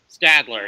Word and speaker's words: Stadler: two yep Seth Stadler Stadler it's a long it's a short a I didn't know that